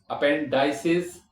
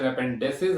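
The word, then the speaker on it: appendices: अपेंडाइसिस। Okay? दो pronunciation अपेंडसेसिस और या अपेंडाइसेस।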